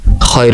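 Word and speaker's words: خ: খয়ের উপর এক নোক্তা। আবারও বলছি, খয়ের উপর এক নোক্তা। উচ্চারণ হবে খ, এক আলিফ টান, লম্বা চড়া কোনো টান নয়, যেমন খ।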